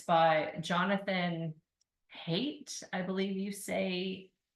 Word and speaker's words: Haidt: It's called The Anxious Generation, and it's by Jonathan Haidt, I believe you pronounce it. It's Haidt.